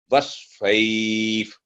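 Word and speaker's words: والصيف: आगे ई वस्वैफ, क्योंकि वाव पर फतह और स्वाद पर तशदीद है, इसे दरमियान में जो अलिफ और लाम वो नहीं बोले जाएंगे, वो साइलेंट होंगे. वस्फैफ.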